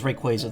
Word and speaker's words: Rayquaza: It is Rayquaza, though. Pokemon Company was very adamant about um making sure people knew that at the last VGC.